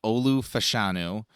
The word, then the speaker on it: Olu Fashanu: Yes, but we pronounce it as Olu Fashanu, the big tackle out of Penn State.